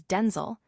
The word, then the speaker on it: Denzel: She began referring to her son as Denel, pronounced with the broader e sound to distinguish him from his father.